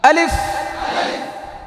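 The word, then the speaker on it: ألف: আলিফ, শেষের ফাটা দেখছেন নি কি করছি, এটা করতে হবে। আলিফ, ফায়ের আওয়াজটাকে চালু রাখতে হবে।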